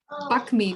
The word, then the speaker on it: bakmi: I remember also seeing the little stalls along the road and it said, bakmi, bakmi. And then we realized that the K is silent, so it's bami.